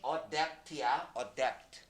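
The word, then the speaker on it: adapt: 적응하다 이거 나올 때마다 늘 얘기하는 거 이거 발음이 어덱트야 입양하다 또는 채택하다 어차피 어떤 아이를 우리 가족으로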